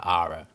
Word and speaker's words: ara: to 15 million per ara. And no, that's not a mispronunciation. An ara is an Indonesian unit of measurement, equal to 100 square meters.